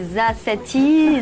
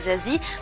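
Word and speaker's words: Za7ie: Alors Zazie, ce 7e album, alors déjà comment ça se prononce? Est-ce que c'est Zazati, Zazie 7? Il y a plusieurs versions. Ça se prononce pas, ça s'écoute, j'ai envie de dire, mais c'est Zazie.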